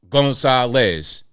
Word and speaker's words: Gonzalez: They spell it GON-SAH-LES. Gonzalez.